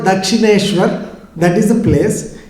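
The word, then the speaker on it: Dakshineswar: course you cannot pronounce but i'm going to pronounce it for you it's called dakshineshwar that is the place it's on the banks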